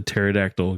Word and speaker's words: pterodactyl: can't you hear the pterodactyl going to the bathroom because the p is silent you got it you